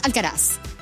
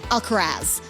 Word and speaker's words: Alcaraz: And I'm like, it's Alcaraz. Like with an American accent, Alcaraz.